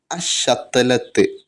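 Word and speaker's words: الشتلة: ഉദാഹരണം പറയുകയാണെങ്കിൽ അശ്ശതലത്ത്, അലിഫ് ലാം കഴിഞ്ഞിട്ട് പിന്നെ വരുന്ന ലാം എന്ത് ചെയ്യുന്നില്ല? ഉച്ചരിക്കുന്നില്ല. അത് കഴിഞ്ഞിട്ട് വരുന്ന അക്ഷരത്തിന് ഷദ് കൊടുത്തിട്ടാണ് ഉച്ചരിക്കുന്നത്. അശ്ശതലത്ത്, അൽ ഷത്തലത്ത് എന്ന് പറയുന്നില്ല, അശ്ശതലത്ത് എന്നാണ്.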